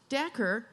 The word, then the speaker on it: Dacher: So anyway, Dacher, like snacker, Dacher, has written this amazing book on power, and I think it's called The Power Paradox, which he's about to explain.